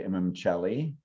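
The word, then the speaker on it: Imum Coeli: Then we have what's called the IC or the Imamcelli. Thank you for teaching me how to pronounce that properly.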